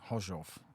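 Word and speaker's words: Gorzów: Poland we were going to a track called Hof it's it's spelled g r z o w goo but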